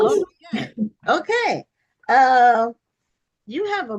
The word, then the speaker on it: Laryea: pronounced, is it pronounced Laryea? Laryea. Laurier. Laurier. I was way, way off. Okay, No, Laurier.